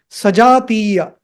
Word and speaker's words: सजातीय: Sajātīya. Sajātīya. So you see the horizontal bar on A and I. So you have to extend that sound. Dhirga. It is called Dhirga. Sajātīya.